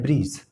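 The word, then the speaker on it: bridge: तो जब भी जी से पहले डी हो तो वो जो डी है साइलेंट हो जाता है। आप देख सकते हैं ये लिखा है ब्रिज, ओके ब्रिज, तो इसमें डी आ रहा है, नहीं आ रहा है।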